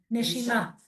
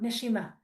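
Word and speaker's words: נשימה: No, Neshima Nesima, Neshima.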